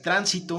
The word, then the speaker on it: tránsito: No es lo mismo que yo diga tránsito, aunque se escuche bien, aquí yo digo transito, que también se escucha bien, aquí yo diga transitó, ¿de acuerdo?